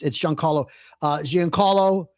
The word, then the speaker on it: Giancarlo Esposito: It's Giancarlo Esposito.